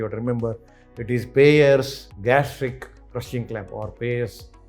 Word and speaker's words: Payr: instrument in immediate surgeries remember that is uh payers spelling remember P A Y R is pronunciation is payer spelling is P A Y